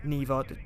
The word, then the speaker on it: Niwa: is to go to a place called the Neva Resort, well, Niwa, but it's pronounced Neva, it's really weird spelling, to go look for the origin of her powers.